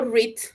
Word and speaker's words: read: El verbo read, que es leer en presente y en pasado y en futuro se escribe igual. Fíjense, read, red read, read. ¿Qué es lo que cambia? Cambia la pronunciación. En presente tú dices read, en pasado dices read, pero la escritura sigue siendo lo mismo.